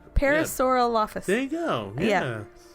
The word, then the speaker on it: Parasaurolophus: no Paris or off Paris or all office Parasaurolophus Parasaurolophus there you go yeah yeah you got it